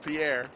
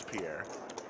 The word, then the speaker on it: Pierre: but thank you though i used to call him pier but it's pierre he's from italy final